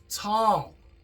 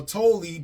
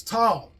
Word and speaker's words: Tolle: last name is pronounced tall it looks like tall or toly but it's tall you know so t